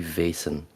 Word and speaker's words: Vaesen: pretty much Bon it's it's supposed to be vasin um it is vas okay yeah it's I go ahead it's Germanic so uh uh in Dutch we say ven in Germany they will say ven so it's uh okay